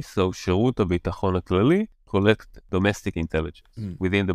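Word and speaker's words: שירות הביטחון הכללי: It's a bit difficult words to pronounce, so I'm going to say them again slowly. So Shirut HaBitachon HaKlali collect domestic intelligence within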